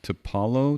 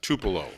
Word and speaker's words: Tupelo: how to pronounce this to Paulo to Polo um Jim you gotta get out of the house more often I believe that's Tupelo Tupelo which as far as